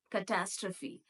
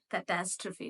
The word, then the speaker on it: catastrophe: Catastrophe. Catastrophe. It is not catastrophe, it is catastrophe.